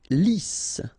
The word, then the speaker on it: lisse: Lisse. Double S here, so it's really a strong S.